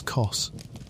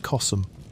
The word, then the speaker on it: Kos: Her name was Kos, which you may say simply as Kos, though some pronounce it Kosm, and the uncertainty is fitting, for almost everything about her is wrapped in mystery and grief.